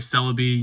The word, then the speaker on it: Celebi: You got your Blissey, then your Celebi, yes, that's how you pronounce it.